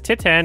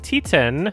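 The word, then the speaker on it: Titane: T10 when the Palm Door this year it is directed by Julia ducorno I have been incorrectly pronouncing it as Titan instead of T10 it is a super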